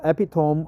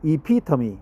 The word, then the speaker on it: epitome: I forgot the pronunciation EP yeah epitomy right not epitom epitomy Essence Peak Crux epitomy epitomy so that's why I always confused not epom but epitomy epitomy repeat after me epitomy